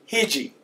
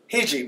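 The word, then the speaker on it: hece: different pronunciations this word hichy hichy means tobacco okay you'll notice the way that I said that hichy hichy this first e represents the sound of a short I in the English alphabet eat it Hey and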